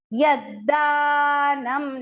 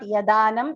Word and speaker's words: यद्दानम्: Yaddanam, not yadanam, it is yaddanam.